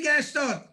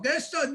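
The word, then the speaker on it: Gastaut: Gaston, he is not pronounced in French.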